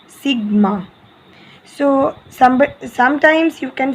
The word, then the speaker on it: sigma: Okay, its pronunciation is, means this is the obviously spelling, and its pronunciation will be like this, sigma. Okay, this will be its pronunciation, it's sigma.